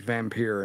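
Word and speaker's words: Vampyr: they're not the same is that how you pronounce it um v-a-m-p-y-r is how the games here it's vampir get it right oh my goodness vampire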